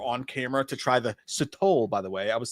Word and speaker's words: Sotol: I've been calling it Sotol, and he was like, "It's Sotol," and I was like, "Fuck, I feel so stupid.